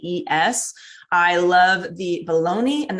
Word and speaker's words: Yves: And one of my favorite lunch meat brands is, I think it's called Ives, or pronounced Ives. It's Yves.